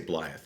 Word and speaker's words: Blyth: See, the folks who are from Blyth, they say Blyth. Everybody else says Blythe. Did you know that, Case? No, I was wondering why you. Blythe is how you say it. That's how the cool kids say it.